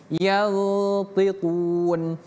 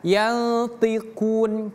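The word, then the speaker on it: ينطقون: Jadi bacanya bukan yantiquun tapi yantiquun. Yti. Ingat ini huruf ikhfa di sini. Dan huruf th berbeda dengan huruf ta ini. Thu tebal dia. Jadi bacanya y bukan yanti tapi y tu.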